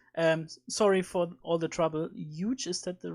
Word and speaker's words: Huge: Huge, is that the right pronunciation? Huge, yeah.